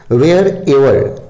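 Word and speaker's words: wherever: वेयर एवर, वेयर एवर, वेयर एवर, इसको ईवर नहीं पढ़िएगा, वेयर एवर।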